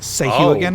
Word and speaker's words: Sahuagin: Sahuagin, I think is Sahwagin. Sahwin. So a long time ago, I heard that some writer for D&D said that his pronunciation rhymes with "Hey, you again."